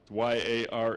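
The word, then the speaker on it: yare: in Psalm uh 111:9 it's Yar y a r e pronounced Yar and it's uh a primary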